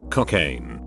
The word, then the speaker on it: Cocaine: Cocaine. Yes, pronounced like the drug, and made the first joke about it.